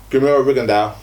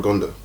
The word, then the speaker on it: Rigondeaux: Let's go with Rigondeaux versus. Is it Rigondeaux or Rigondeaux? You say Rigondeaux.